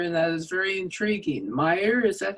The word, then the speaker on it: Meyer: Meyer, is that how you pronounce his name?